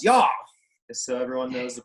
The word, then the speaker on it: YAW: We pronounce YAW, just so everyone knows the proper nomenclature.